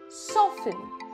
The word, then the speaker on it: soften: you do not pronounce the T in these words soften fasten listen whistle